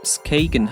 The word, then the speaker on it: Skagen: 40, weiter rauf Richtung Skagen, was übrigens richtig ausgesprochen Skagen heisst, und nachher hier am Parkplatz in Grenen gelandet.